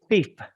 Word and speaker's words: thief: teaching speaking just because it has that th in the front fifa and the f at the end thief thief please try to say